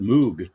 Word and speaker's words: Moog: and everything wow and he just said moo he did British that's a BBC announcer H bloody BBC announcer well you know the pronunciation I guess is because it was a a German name although um Robert MOG